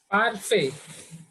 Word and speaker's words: parfait: Parfait. Parfait. Again, T is silent here.